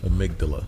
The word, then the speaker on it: amygdala: podcast i'm just gonna lead up to you amygdala i think that's it yeah that's right that's